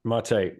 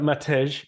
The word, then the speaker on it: Matej: All right, Mate, we're here, and I hope I pronounced that correctly. Yeah, it's pretty accurate. Excellent, thank you. It looks like Matej in English, but there you go.